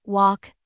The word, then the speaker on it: walk: The letter L is silent in half, walk, and talk. When it comes before K or F, once you know these